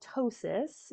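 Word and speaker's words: ptosis: Um so the first thing I always look for is something called tossis. It's p to osistosis. The p is silent.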